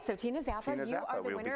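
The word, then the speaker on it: Czappa: Tina Zappa. I'm hoping I say that last name correctly. Okay. It's C-Z-A-P-P-A, so Okay. I believe the C is silent, so Zappa. All right, so Tina Zappa, you are the we'll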